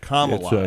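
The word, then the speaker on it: Kamala: how you say it yeah comma yeah commala it's it's like a comma I'm okay well they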